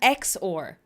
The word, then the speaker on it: XOR: It's pronounced the same way though. Zor and Zor, right?